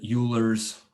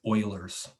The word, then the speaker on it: Euler: useful one it's called euler's formula don't ever pronounce it euler's uh you'll reveal to people that you're a newbie it's euler's in euler's formula says e to the ikx